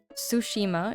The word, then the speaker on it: Tsushima: It's Tsushima is okay. The T in Sushima is silent and I appreciate it.